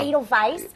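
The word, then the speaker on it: Edelweiss: let's talk about it adce adal Vice is oh it's adal Vice I was saying it wrong is uh one of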